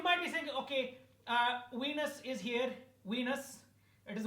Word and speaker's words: Venus: there's another planet it is called wenus it is called Venus I mean I know sometimes my accident people are thinking no no isn't it called Venus no it's Venus okay it's it like rhymes with penis so just remember so